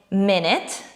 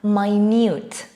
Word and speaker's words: minute: different meanings for example we can say minute and minute minute and minute we say minute when it's a noun and it is a short